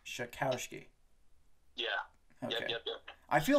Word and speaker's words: Czajkowski: It's pronounced Czajkowski. Czajkowski.